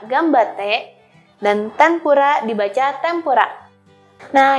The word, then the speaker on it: ganbatte: ada contoh lain seperti ganbatte dibaca gambate dan tempura dibaca tempura